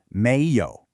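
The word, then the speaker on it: 没有: Let's break down the tones. Méi is a second tone. It should sound a little like you're asking a question. Your voice starts low and rises up, like you're saying, "Really?"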